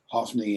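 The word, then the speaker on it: Hophni: he pronounces their names hofney and and phineas is what we do in american english um but if it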